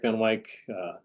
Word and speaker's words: Van Wyck: So, right, I saw Van Wyck, rhymes with Dick Van Dyke, if you have trouble remembering the pronunciation, but anyway, so I'm back.